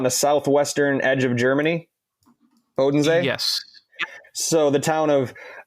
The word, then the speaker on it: Bodensee: So after we hang out in Munich, we head southwest towards the Obersee Bodensee, I think. Is it pronounced, Tristan, on the southwestern edge of Germany? Bodensee?